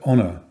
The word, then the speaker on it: honour: a consonant, except that the word honour only looks as if it starts with a consonant. In fact, the H at the beginning is a silent letter, as we saw at the beginning of this lesson.